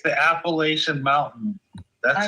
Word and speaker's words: Appalachian: It's the Appalachian Mountain. That's how it's said. What do you mean? What? I can't pronounce Appalachia.